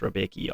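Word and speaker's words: Rębecki: Apparently it's pronounced Rombecki, something like that. But I just call him Mateusz Rebecki, obviously.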